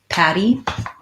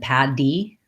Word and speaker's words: patty: the middle of words, even in words that are spelled with a D, like patty, there's like a rice patty or patty like a burger. These two are pronounced the same.